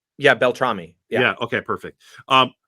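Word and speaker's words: Beltrami: Marco um the the the proper way to say his last name is Bel tramy am I saying that correct yeah Bel tramy yeah yeah okay perfect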